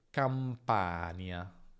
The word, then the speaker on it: Campania: Attenzione a non confonderla con nie, perché c'è differenza tra campagna, campagna e campania, campania.